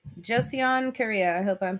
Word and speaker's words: Joseon: Joseon.